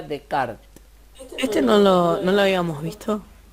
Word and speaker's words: Descartes: kart en la prisión se escribe descartes pero se pronuncia de kart este no lo habíamos